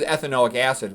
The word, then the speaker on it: ethanoic acid: This is ethanoic acid, which is also called acetic acid, which is also called vinegar. Okay? And you you you pronounce the whole thing with a "ic" at the end.